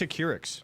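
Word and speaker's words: Acurx: It's a Curix. Curix Pharmaceuticals.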